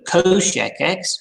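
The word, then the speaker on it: cosech: same way as the reciprocal trigonometric functions so coshecs which is how that's pronounced is one divided by shine x which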